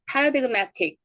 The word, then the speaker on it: paradigmatic: 앞에 단어 끝에 비음이 있고 그가 있으니까 발음하지 않는다. 이 paradigm은 이런 뜻입니다. 전형적인 예 양식이라는 뜻이에요. 그다음에 paradigmatic.